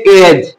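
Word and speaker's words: edge: যেমন ডি এর পর জি আছে তাহলে এখানে ডিটা পড়া যাবে না এটা কি পড়তে হবে এজ ই যে এজ এজ এডিটা পড়া যাবে না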